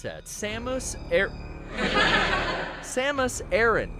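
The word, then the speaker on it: Samus Aran: pronounce that samus air samus aaron there we got it right i have a little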